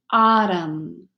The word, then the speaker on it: autumn: psycho M and N the N is completely silent so you only hear the Elm mm as in column autumn hilm all right friends